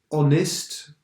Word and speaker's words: honest: pronounce the H so honest we don't pronounce the H our we don't pronounce